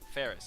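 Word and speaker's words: Faris: Her name rhymes with Paris? Ferris, okay.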